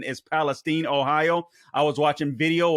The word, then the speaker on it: Palestine: I pronounced it Palestine the other day or yesterday, I believe it was. But I've since learned that the correct pronunciation is Palestine, Ohio.